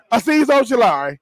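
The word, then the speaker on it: Azeez Ojulari: Aziz Ojulari.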